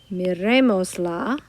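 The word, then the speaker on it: mirémosla: You need the accent there on that E because that used to be the next to last syllable. And now that it's not, we've got to add that accent so that we know where the emphasis goes.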